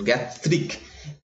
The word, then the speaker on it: জ্ঞাত্রিক: ঠিক আছে, জ্ঞাত্রিক, এটা হচ্ছে বানান, অ্যাকচুয়ালি উচ্চারণ জ্ঞাত্রিক।